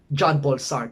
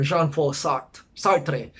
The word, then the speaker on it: Jean-Paul Sartre: We have Marie Merleau-Ponty, and of course, the very focal point of our discussion, Jean-Paul Sartre, or Jean-Paul Sartre in French.